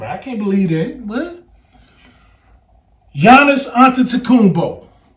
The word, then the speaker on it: Giannis: can't believe that but Giannis an tumbo you got the G but the g is silent you don't say the G watch this Nicolo yic